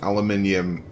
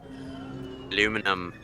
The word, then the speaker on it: aluminium: turret grind pinky down not done get aluminium pronounce aluminium correctly that's not on there but nice try aluminum so once on the streams aluminum is in